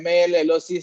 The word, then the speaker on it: malloc: Now the first function name MAL-LOC stands for memory allocation.